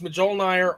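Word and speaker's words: Mjölnir: And Thor pronounces it wrong. It's Mjolnir all day long.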